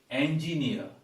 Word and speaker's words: engineer: he is an engineer no it is engineer not e but a engineer and the stress goes here engineer and also uh uh